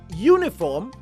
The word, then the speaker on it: uniform: The noun uniform begins with a vowel, but the opening sound is that of a consonant u.